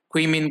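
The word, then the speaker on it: Caoimhín: out is pronounced as quein ker which has honestly it has no relation to the spelling whatsoever but uh it's Irish it is what it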